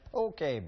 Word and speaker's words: poke: It's spelled like poke. Don't be like me. I went to a restaurant and asked for a tuna poke. You did ask for a tuna poke.